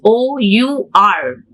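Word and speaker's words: hour: the letter h consonant but in the next word h o u r h o u r here h gives the sound of owl sound not the letter here we have we cannot take though it's a consonant letter it gives the sound of a well our house house that's why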